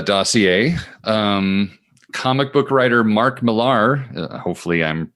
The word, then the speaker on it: Mark Millar: Uh so next up on the uh dossier, um comic book writer Mark Mear, hopefully I'm pronouncing that correctly.